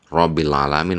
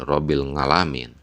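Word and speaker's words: Rabbil 'alamin: Karena Wali Paidi ini ketika membaca huruf Ain menjadi eng. Robbil alamin menjadi Robbil ngalamin.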